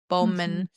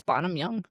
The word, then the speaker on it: Bonham: Bowman. I think it's Bonam Young.